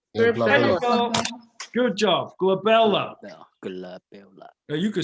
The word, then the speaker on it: glabella: you go good job glabella good luck now you could start that one that's always on the test because it rhymes with my baby girl isabella's name and that one is